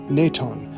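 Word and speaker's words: Nwython: case we have this God named naton but it is spelled n w y t h n however it is also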